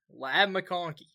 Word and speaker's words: Ladd McConkey: Ladd McConkey.